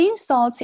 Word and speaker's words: insult: 好，那我们接着再长速的读一遍。The insults and criticism were not unexpected.